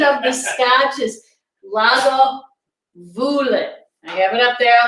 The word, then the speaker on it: Lagavulin: So the pronunciation of the Scotch is Lagavulin.